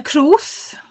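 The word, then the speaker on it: crwth: was that what, I don't know how to pronounce it, a crowth? Yeah, that is a crowth.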